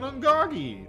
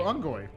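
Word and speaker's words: Unggoy: Sangheili, and the fucking Ungagi or Ungoy. I keep calling them Ungagi because that's what I thought they were pronounced.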